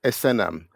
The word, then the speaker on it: Esenam: is pronounced and the surname is Asam and as you can